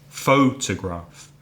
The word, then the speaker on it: photograph: Photograph, 3 syllables. First syllable stressed, da, photograph.